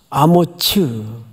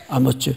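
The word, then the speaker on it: 아모츠: 밑에 푼도트를 한번 보세요 히브리 말로 뭐라고 발음하도록 되어 있죠 아무츠 아머츠 원래 이렇게 번역이 됐어야 맞았습니다 근데 이게 외래 오다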